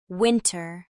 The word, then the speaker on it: winter: In casual speech, NT can become a nasalized N sound with the T disappearing, especially in words like center, center, winter, winner, and internet.